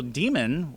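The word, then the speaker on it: daemon: But the divas there were, I believe they're spelled D-A-E-V-A, but they're pronounced divas, which is also demon, D-A-E-M-O-N, pronounced demon.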